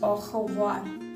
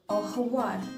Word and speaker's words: au revoir: Au revoir. Because there is an R in it. Double R. R-E-V-O-I-R. Au revoir.